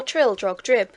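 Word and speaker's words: Trildrogdrib: It contained a warrant for conducting me and my retinue to Traldrag Dub, or Trildrog Drib, for it is pronounced both ways as near as I can remember, by a party of 10 horse.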